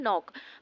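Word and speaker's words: knock: है साइलेंट होता है नॉक लिखा हुआ होता है के शुरू में होता है के एन ओ सी के नॉक बट के साइलेंट होता है और पढ़ा क्या जाता है नॉक प्रोनंसिएशन होता है नॉक अब देखिए जो एक्स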